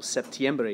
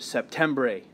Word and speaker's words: septiembre: they're spelled for example septiembre is really close to September but you don't want to say it sep tember a because that's not it septiembre same thing with octubre